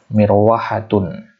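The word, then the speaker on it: مروحة: Mirwahatun. Jadi bacanya mir sukun wa hatun. Mirwahatun.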